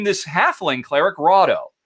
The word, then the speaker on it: Rahdo: name this halfling cleric rado because it rhymes with frodo so rado is my